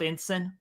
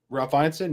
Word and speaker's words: Ineson: You know our boy Ralph Ensign? Ralph Ineson, yeah.